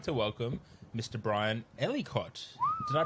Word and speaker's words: Ellicott: podcast and i would like to welcome mr brian ellicott did i pronounce that correctly hello that's right yep yes